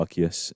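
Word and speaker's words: Arceus: Uh, Arus Da Palia or Archus if you want to say it properly.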